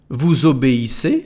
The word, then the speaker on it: vous obéissez: Il obéit, elle obéit, on obéit, nous obéissons, vous obéissez, so the same liaison like a Z.